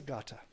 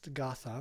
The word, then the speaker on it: gatha: well what is a gata you may not even heard this term g-a-t-h-a looks like it's gotha but it's pronounced gata these are just simple